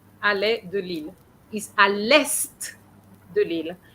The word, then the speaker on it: à l'est: Because here, it's not the verb to be, it means east. So it's got a different pronunciation, okay? So, il est arrivé à l'est, and you pronounce the T as well.